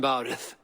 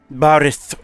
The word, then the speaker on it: Bárid: And my cousin Bárid. Bárid. He's adding a little bit of a little extra sound at the end there.